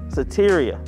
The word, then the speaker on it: Soteria: i was going because i didn't want to pronounce the name of the church wrong so it's make sure i get it right satyria all right that's we're so tyria christian center